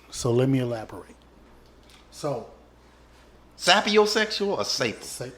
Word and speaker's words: sapiosexual: So, Sapiosexual or sapo? sapiosexual. How you spell it?